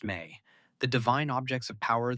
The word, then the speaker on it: me: They wrote about the ME, pronounced may, the divine objects of power that were the lifeblood of the Anunnaki, those who descended from the heavens.